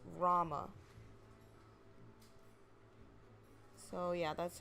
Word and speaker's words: Rauma: Like, it could be Althea, it could be Althea, but, yeah, so Rauma is just basically like the U is silent. It's just Rauma.